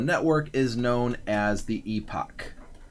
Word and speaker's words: epoch: is known as the epoch which can be pronounced epic I think Epoch just sounds a little bit better so I'm going to use the word epoch either way we're going